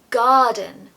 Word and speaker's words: garden: to make so Garden as you know we don't usually pronounce the r when it comes after a vowel so of course the r is completely missing here I really just want you to master that long stretched a garden I dream about one